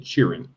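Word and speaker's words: chirren: Cheerin. That's how it's pronounced south of the Mason Dixon line.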